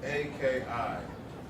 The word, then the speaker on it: Aki: So it's A-K-I. Aki.